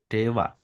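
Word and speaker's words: では: Dewa. Dewa. Oh, Ya, iya. wa-nya itu di atas ada tuh. D, H. Ini DH. De- Penulisannya DH, tapi bacanya Dewa.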